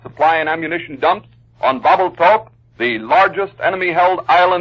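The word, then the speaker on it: Babelthuap: bombed and strapped supply and ammunition dumps on bubble talk the largest enemy held island in the palau group that island is spelled b-a-v-e-l-t-h-a-u-p marine torpedo planes had installations at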